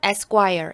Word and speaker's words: Esquire: 네, 이 ESQ는요, 발음은 Esquire 이렇게 되고요.